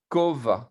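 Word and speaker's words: כובע: Alors, pourquoi est-ce qu'on ne prononce pas la lettre ayin qui est à la fin? Parce que c'est une consonne, simplement, il n'y a pas de voyelle. Donc, c'est comme un sheva, quoi. Kova, et on ne le prononce pas, quoi.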